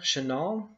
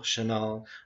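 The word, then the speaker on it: Chenault: anglicized version of the original French name, which was phonetically identical Chenal, but pronounced or spelled C-H-E N-A-U-L-T.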